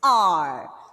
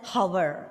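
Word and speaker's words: hour: That is R. So please don't pronounce this word as hover. It is R, exactly like O-U-R.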